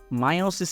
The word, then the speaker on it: মিয়োসিস: বোঝানো হচ্ছে ঠিক আছে মায়োসিস মিয়োসিস দুইটা কিন্তু কারেক্ট ঠিক আছে অনেকে বলল যে ভাই আপনার তো উচ্চারণ সমস্যা মায়োসিস বলতেছেন আসলে মিয়োসিস একই কথা কিন্তু ঠিক আছে মায়োসিস মিয়োসিস দুই জিনিসটা কিন্তু এক্সেপ্টেবল আচ্ছা দুই নাম্বার যে বেসিকটা